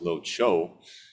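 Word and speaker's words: 琉球: In Chinese Mandarin, it's pronounced Lo Chou.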